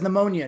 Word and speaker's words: pneumonia: Why does pneumonia need a P? Yeah, just start it with an N.